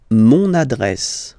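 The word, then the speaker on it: mon adresse: use adjective possessive masculine monad monad my address monad monad okay you can hear now this little link so you get to pronounce this n monad monad okay and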